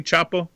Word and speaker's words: Chapo: Am I pronouncing it correctly, Chapo?